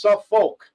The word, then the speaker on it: Suffolk: It's not pronounced like Norfolk. It's Suffolk, right?